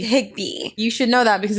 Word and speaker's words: Higbee: Every time I pronounce a last name, I get scared. You got it. Higbee. Higbee.